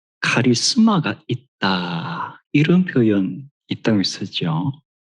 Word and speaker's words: 카리스마: 어떤 사람을 볼 때 카리스마가 있다 이런 표현이 있다고 쓰죠 대체로 정치가들 중에서 카리스마가 있어 그리고 리드쉽에 어떤 영어로는 크리즈마 이런 발음을 주로 하는 것 같은데이 카리스마 하는이 단어는 헬라어입니다 카리스마 방금 제가 읽었던